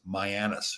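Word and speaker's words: Mianus: actually a river and it's supposed to be pronounced mayanus river but of course yeah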